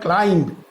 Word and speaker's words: climb: আবার ক্লাইম্ব, CLIMB, ক্লাইম্ব, এখানে কিন্তু বি এর উচ্চারণটা থাকবে না, হবে হচ্ছে ক্লাইম্ব মানে আরোহণ করা।